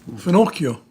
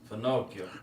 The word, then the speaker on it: finocchio: Finocchio. Finocchio.